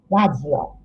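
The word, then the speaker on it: ラジオ: ラジオ。 We don't have D sound in Japanese, so this is ラジオ。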